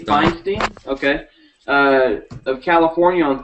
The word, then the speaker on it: Feinstein: um there is a senator named uh Senator Feinstein finstein Feinstein and she has proposed a bill